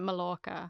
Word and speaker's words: Majorca: A lot of A lot of people call it Mallorca. Yeah, I mean, if you're spelling it phonetically, that is how you would say it.